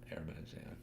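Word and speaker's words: Hermès: I saw a video It's pronounced that way or air man no no h I think there's no h on that might break up I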